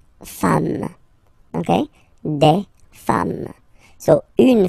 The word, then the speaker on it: femmes: form, and then you just add this S at the end, and as we said, you don't pronounce it, so you get des femmes, okay?